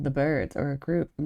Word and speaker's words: Byrds: And it's like The Birds, but it's spelled with a Y instead of an I. Like instead of B I R Ds, it's B Y R Ds.